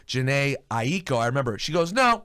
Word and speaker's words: Jhené Aiko: I still am and like my name is janae ie CO and I said okay I'm gonna introduce you